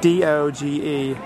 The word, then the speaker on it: Doge: Okay, so I had to go on Google and make sure it's Doge Palace, so it's spelled D-O-G-E Palace, Doge.